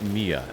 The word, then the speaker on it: Neyyah: It's pronounced nia.